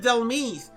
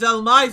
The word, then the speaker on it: Dhelmise: I always pronounce it Dhelmise, but hearing it as Dhelmise, I'm like, oh, that makes sense, like Demise.